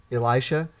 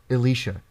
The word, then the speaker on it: Elisha: blast event and said instead of saying uh Elisha said uh oh how did how did they pronounce it Elicia yes okay yes all right I like that the whole message was Point everything about it was great except they kept saying Elicia yeah and that was